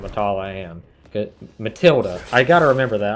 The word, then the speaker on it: Matilda: when i asked them said matala i've always just pronounced it that way and i feel embarrassed every time i say because it's so stupid once i finally realized oh wait that's matilda i thought i was